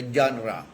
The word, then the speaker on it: genre: Ang unang hakbang, distinguish the genre. Yan. Yan po, yung blanco po, genre. Genre. Ang spelling, G-E-N-R-E. G-E-N-R-E. Yan. Yun. Ang pronunciation niya, genre. Ano po? Parang genre. Ano po? Ang spelling genre, pero genre.